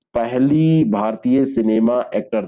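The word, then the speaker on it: tsunami: से जाना जाता है सुनामी इसको लिखा जाता है लेकिन यह जो सब होता है यह रोटी साइलेंट करके इसमें पढ़ा जाता है जापानी सब है यह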